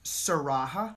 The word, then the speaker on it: Sarah: said all right sarah it's pronounced siraha oh so you pronounce the h all right uh ooh